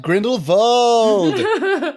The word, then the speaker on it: Grindelwald: Yes, Charlie, you pronounce it right, Grindelwald.